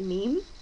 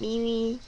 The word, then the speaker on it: meme: joural and side note it is pronounced meme not Mimi not me not me it's meme a meme is uh